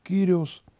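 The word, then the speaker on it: Κύριος: твое это имя господь которая по гречески произносится как terios в еврейском тексте это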